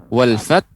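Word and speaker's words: وَالْفَتْحُ: Kemudian juga huruf pengucapan kata wal fath. Ya, wal fath, kemudian teman H.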